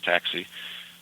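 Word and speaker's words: táxi: It spells exactly the same as taxi, but you just pronounce a little bit different.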